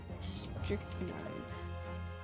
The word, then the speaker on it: strychnine: I need to look up how to pronounce that. Strychnine.